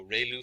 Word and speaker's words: ReLU: we have the relu it's pronounced like rey the from the sun and lu like a name so relu function and we have